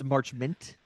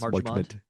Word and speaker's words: Marchment: It's Marchment, not yes, Marchmont.